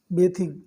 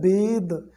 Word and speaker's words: bathe: आपको बताऊं तो देखिए, BATHE ये होता है बेद, इसको पढ़ते हैं बेद। एक्चुअल इसका जो प्रोनाउंसिएशन है वो होता है बेद, तो बेदिंग इसको हम पढ़ते हैं, लेकिन ज़्यादातर लोग इसको बेथ कहते हैं, ठीक है, ये बाथ कहते हैं।